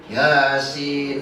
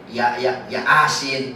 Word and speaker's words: Yasin: Yasin, wal Qur'an lagi diajiin. Tapi kalau orang nggak bisa ngaji tapi bacanya Latin. Ya asin. Ya asin ini malah terbelalak kata orang tuanya. Ya asin. Emang petai gua katanya.